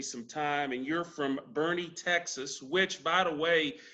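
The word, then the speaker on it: Boerne: parents hadn't told me hey we're moving to bernie and then i knew that's how to say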